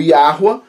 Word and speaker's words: Yahweh: Yud Rei Vav Rei, que, bom, a gente pronuncia aqui neste canal e em vários outros canais que fazem esse estudo aqui, como Yahweh.